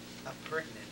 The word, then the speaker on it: appurtenant: So before I start, how do you pronounce it? Appurtenant.